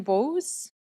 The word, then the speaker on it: Bose: And yes, you did pronounce my name last my last name properly. My name is Bose and I'm speaking today on behalf of the Gastown Residents Association.